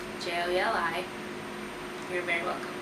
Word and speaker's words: JOELI: Pronounced JOELI. JOELI. You're very welcome. Most people have gotten my name wrong, so my name is pronounced JOELI.